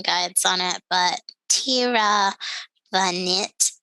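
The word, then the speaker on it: Tiravanija: guides on it but tira the knit is usually how the last name is pronounced and this is a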